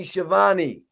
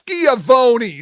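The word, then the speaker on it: Schiavone: pole jargo versus tony siobhani it's skiavoni say it right jeez all right um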